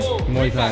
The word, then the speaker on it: Muay Thai: Muay Thai, yeah.